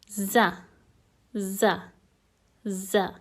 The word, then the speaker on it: ز: ra r r now the pronunciation of Z basically happens when almost the top of the tongue touches the lower teeth repeat after me z z z an example would be